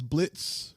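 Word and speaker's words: Blitzø: boss whose name is Blitz but it's spelled b l i t o and the O is silent and he makes sure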